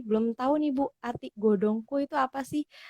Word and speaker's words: Godhongkoe: tahu nih Bu Atik Godong ku itu apa sih kadang aku juga kemarin salah gitu bacanya malah Godong kowe gitu kan dulu harus itu